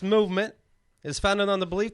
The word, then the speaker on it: MVMT: about buug bunny I have to talk about movement watches o it's Al of a rage these days all right okay sorry movement you're not alt right MVM rules here mvmt watches it's pronounced movement is founded on the belief that Styles shouldn't